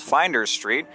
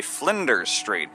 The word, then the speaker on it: Flinders Street: is this along here is not actually called finder street it's actually Flinders Street there's actually an L in there I always thought the